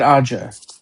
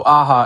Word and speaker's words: Aja: Is it Aja or Aha? David Aja. Aja, okay. And that was But I think also Aha is right.